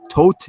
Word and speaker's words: Thoth: book of to or tote or th tote is supposedly the correct way you pronounce the th is as hard te so it's like tote essentially that's I guess the